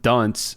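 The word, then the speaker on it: Duns: and philosopher named John Dunce Scottus. Now, Dunce here is spelled D- Ns, not D- N C like the cap.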